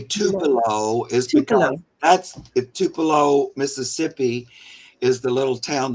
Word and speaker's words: Tupelo: The reason I say Tupelo is because Tupelo, Mississippi, is the little town that Elvis Presley was born in.